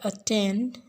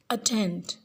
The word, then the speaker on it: attend: Listen the way to these words are pronounced. The last part of the word attend is set more force to stress. Attend.